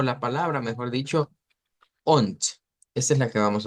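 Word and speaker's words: und: la palabra Mejor dicho on Esa es la que vamos a utilizar on se se escribe con d pero se pronuncia con t Y eso significa i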